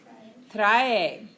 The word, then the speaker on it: trae: Because we pronounce every vowel, just like in this verb, leer. He or she reads. How do we pronounce that? Lee. Lee. That's how we pronounce it. Trae. There's no silent E's in Spanish.